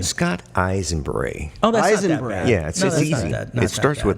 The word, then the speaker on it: Aisenbrey: you can share yes your last name Scott eyes and Bree oh yeah it starts with the name so